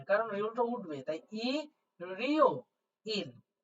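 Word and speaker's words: 일요일: নাই তাহলে এখানে হলো ই রিও ইল ই রিও যখনই দেখতে পাচ্ছেন ইয়ং আছে তখনই আপনি নিচেরটাকে আর উচ্চারণ করবেন না সাইলেন্ট রেখে দেন তাহলে আমি দেখেন ইল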